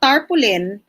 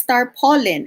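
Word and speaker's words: tarpaulin: me you know mommy it's not tarpoolin it's star pollen and i checked and truly one of the pronunciations for that is one of the accepted pronunciations is star pollen okay thank you for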